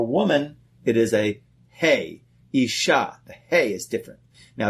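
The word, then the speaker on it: איש: the word for man in Hebrew is called ish it's spelled with an aleph yod and shin all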